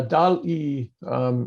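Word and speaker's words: DALL-E: Yeah, DAL-E, it's DALL, like wall, but spelled with a D.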